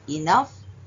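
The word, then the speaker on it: enough: ಜಿಎಚ್ ರಫ್ ಟಿ ಓ ಯುಜಿಎಚ್ ಟಫ್ ಇಎನ್ಓ ಯುಜಿಎಚ್ ಇನಫ್ ಪಿಎಲ್ ಓ ಯುಜಿಎಚ್ ಪ್ಲಫ್ next O ಯುಜಿಎಚ್ ಟಿ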